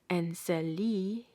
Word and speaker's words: Enseli: in the case of the geographical word Enseli, properly pronounced Enseli, or the name of the famous poet Saadi, pronounced Saadi.